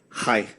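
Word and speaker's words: חי: In the Bible, in Hebrew, life is pronounced chai.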